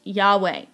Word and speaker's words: Yahweh: Sometimes it is sounded out and pronounced Yahweh.